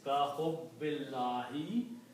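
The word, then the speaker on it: كَحُبِّ اللّٰهِ: So the full pronunciation is ka hubbillahi, same as the love of Allah.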